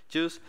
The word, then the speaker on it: Guice: pronunciation is well actually juice it sounds like G but it's juice and it's a theoretically